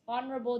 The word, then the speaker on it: honorable: an and of course honorable the pronunciation starts with a vowel technically so we use an instead therefore the answer is